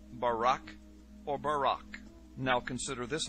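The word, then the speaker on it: ברק: is by Barak so lightning or a flash of light in Hebrew is pronounced Barak or Barack now consider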